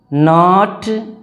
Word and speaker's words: know: एंड आई डिड नॉट नो, देखो नो को याद रखना पड़ेगा, KNOW। कुछ लोग कनऊ बोलेंगे शुरुआत में, जब आप पढ़ोगे तो इसको कनऊ बोलोगे, तो KNOW नाव बोलोगे, ठीक है, नाव।